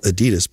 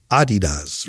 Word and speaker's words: Adidas: opening this facility at, I would call it Adidas, but it's Adidas, right? You gotta say it right.